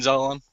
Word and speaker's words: Zelalem: Tyler, you have any thoughts on Gideon Zelalem? Well, first of all, can we find out exactly how to pronounce his name?